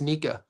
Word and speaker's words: Nika: So it's not Nakia, it's Nika.